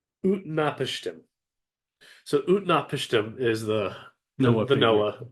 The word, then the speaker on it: Utnapishtim: Because Noah's got the character that resembles Noah in this has a super convoluted name that I need to pronounce by reading it. It's Utnapishtim.